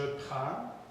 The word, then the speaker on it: prends: Mais pour le verbe prendre, on ne prononce pas non plus le D. Donc, je prends, tu prends, il prend, nous prenons, vous prenez, ils prennent.